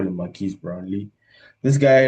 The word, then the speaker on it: Brownlee: This Maris um Brown Brownley, that's how you say his name.